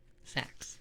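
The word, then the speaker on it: seax: right the Norse saxs sax okay it's a pronounced as sax okay sax okay oh all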